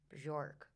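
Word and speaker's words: Björk: Okay, the next one I have is Bjork. How do you say her name? Bjork Bjork.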